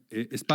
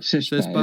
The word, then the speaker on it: SESPA: ESP, estoy diciendo bien el nombre, o o SESPA. SESPA es como lo pronunciamos normalmente, que es digamos un